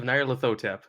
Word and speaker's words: Nyarlathotep: Can you please just one more time for me pronounce Nyarlathotep? Masks of Nyarlathotep.